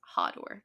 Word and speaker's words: Hador: It looks like Hador, but it's apparently pronounced Hodor.